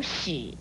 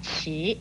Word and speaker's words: 弛: 最后要说明的是，迟这个字有史和迟两个读音，如松史或是念成松迟，在意义上讲都是相同的，特别